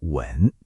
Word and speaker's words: 吻: 就是提问题的问第四声和亲吻的吻第三声。